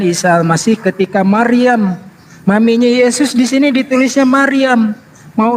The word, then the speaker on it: Yesus: Bahasa Belanda huruf J dibacanya Y. Jadi Yesus dibacanya Yesus.